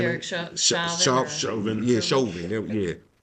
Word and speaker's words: Derek Chauvin: Derek Chauvin.